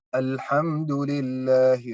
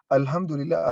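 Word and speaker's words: الحمد لله: Kalau kita merubah hanya pelafalan, merubah makna. Seperti apa? Alhamdulillahi Rabbil Alamin. Coba, hampir 90% di antara penduduk Indonesia membacakannya Alhamdulillah. Kan? Astaghfirullahaladzim. Alhamdulillah artinya segala kerusakan bagi Allah. Kita ingin memuji Allah, Alhamdulillah.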